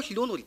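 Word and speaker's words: ヒロノリ: 僕はヒロノリって発音してるんです。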